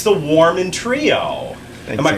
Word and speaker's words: Warman: It's the Warman Trio. Am I pronouncing that correctly? Yes, Warman? you are. Yes. Warman.